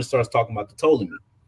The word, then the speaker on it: Ptolemy: Ptolemy. The P is silent.